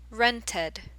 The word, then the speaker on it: rented: T is a special case where we actually pronounce the ed sound. So we get rented, rented or rented.